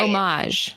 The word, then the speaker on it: homage: Just pretend like there's no H. Right. Homage.